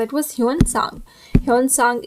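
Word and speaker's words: Xuanzang: Hyun सांग, इसकी pronunciation कुछ भी हो सकती है चाइनीज लैंग्वेज में, बट हम इसे ह्यून सांग कह सकते हैं.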